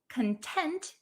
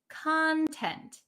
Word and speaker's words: content: Um so this one content has a different pronunciation. The one that we're talking about today is content. The one that means happy or satisfied is content.